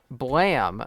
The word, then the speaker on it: BLAME!: So, Blam by Tsutomu Nihei, uh, or Blame, as I thought it was called, but it's actually pronounced Blam.